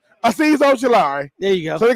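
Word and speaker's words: Azeez Ojulari: Aziz Ojulari.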